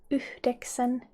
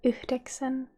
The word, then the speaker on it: yhdeksän: Remember to pronounce the H at the end of the first syllable. And in informal language you can say kasi. And 9 in Finnish is yhdeksän. Yhdeksän. Yhdeksän.